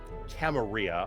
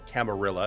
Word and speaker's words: camarilla: we formed an organization called the camaria or camarilla if you can't pronounce Spanish words correctly yeah uh which was